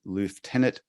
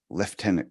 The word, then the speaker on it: Lieutenant: be said and uh the Americans say it phonetically so it's l-i-e-u and they say Lou uh it's just a